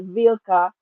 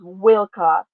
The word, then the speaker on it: Wilka: your name is pronounced wilka I don't want to mispronounce it you can say wilka or vilka originally is pronounced wika but I like the vka thing because I'm a